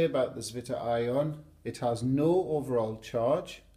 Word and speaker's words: zwitterion: formed an ion, and its name is a German word. I'm going to do my best to pronounce it properly. Apologies if it's wrong, but I think it's pronounced something like this: zwitterion. I would normally say zwitterion, which is probably totally wrong, but there you go, zwitterion.